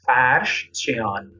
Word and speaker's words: Farshchian: How do you pronounce his name again? I think I'll say it wrong. Farshchian. Farshchian, like that? Farshchian. Yeah, Farsh actually in Persian means rug, carpet.